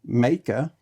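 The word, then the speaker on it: Meike: I learned that this company, spelled M-E-I-K-E, is pronounced Meika. So I wouldn't have got that right in a long time. But Meika lenses have a fantastic price point.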